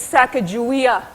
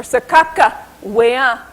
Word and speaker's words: Sacagawea: Some say my name is Sacagawea. Others say Sacagawea or Sakakawea or Sakajua.